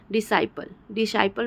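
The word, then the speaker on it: disciple: ठीक है दोस्तों, डिसाइपल में भी आप देखो कि सी का उच्चारण नहीं हो रहा है, सिर्फ एस का हो रहा है।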